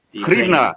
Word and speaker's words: Hryvnia: The Hryvnia. Hryvnia is how we say it.